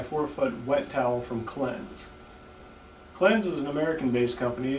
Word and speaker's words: Klenz: website by searching for the keyword cleanse that's spelled k-l-e-n-z the clean shower in